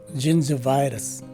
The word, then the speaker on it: gingivitis: on top of it, and both the second and fourth letter I's are swa sounding I's. And finally, the letter S at the end of the word is a regular letter S. So the right way to say this word is gingivitis.